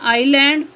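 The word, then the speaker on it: island: next है silent S एस इज not pronounced S pronounce नहीं किया जाता या एस आवाज नहीं देता बिफोर एल एल से पहले इन द फॉलोइंग वर्ड्स मुद जल अल्फाज में for example आइलैंड oil next है साइलेंट टी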